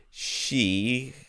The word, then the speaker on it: HSU: Wrote to HSU, or she, I think that's how you say it, she, to let them know that we recommended them to him.